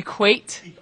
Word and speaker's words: EQAT: I'm the director of Earthquaker Action Team, also known as EQAT. Could you say it after me? EQAT? Thank you. There are many pronunciations out there.